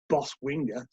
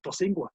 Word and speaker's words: Bosingwa: boss winger his boss say his name correctly says bosingwa anyway the bossing of